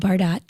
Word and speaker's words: Bardot: Spelled Bardot. Pronounced Bardot.